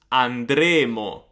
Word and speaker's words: andremo: For example, andremmo, andremmo, we would go, this is a conditional, versus andremo, andremo, we will go, future.